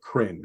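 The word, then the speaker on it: Krynn: paired with the premium board game Warriors of crin print is spelled k-r-y-n-n that is the world on of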